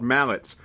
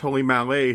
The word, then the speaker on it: Mallet: American I always thought these engines were called mallets but that's not the correct pronunciation they're actually pronounced Mal they're named after a Swiss guy named anat Malay who developed this type of steam engine what